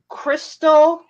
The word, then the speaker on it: Cristal d'Arques: Okay, this is called Crystal. But it's not. It's not spelled like crystal. It's spelled CRISTALDARQUES, and it's from France.